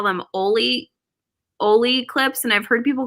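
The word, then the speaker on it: olloclip: It's pronounced Oli clip. Oli clip. Oli now clip.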